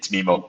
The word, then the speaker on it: MIMO: as long as the logo is right it's mimo it's uh it's even shorter well it's funny